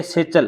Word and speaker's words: satchel: ये है सेचल, क्या है भी, सेचल, सेचल मीन्स होता है बस्ता, SATCHEL। यहाँ पर देखो भी ये टी है, ये साइलेंट लेटर है, इसका उच्चारण नहीं होता।